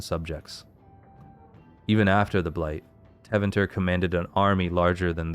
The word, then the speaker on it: Tevinter: Tevinter. That sounds better to me. Yeah, I'm putting the emphasis on the second syllable.